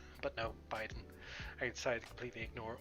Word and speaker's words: Biden: everything wrong sure was i was calling biden bidden for ages because it was like that was the way it just looked like b-i-d-e-n bitten bit didn't but no biden i decided to completely